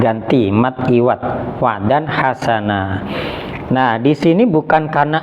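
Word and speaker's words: حَسَنًا: Nah, ini bukan berarti membacanya ketika berarti wa dan hasan, bukan, tapi membacanya wa dan hasana. Lo mana huruf terakhirnya mati? Nah, ini sebenarnya huruf mati, ini alifnya ini sebenarnya huruf mati. Nah, makanya di sini yang ini namanya mat iwat.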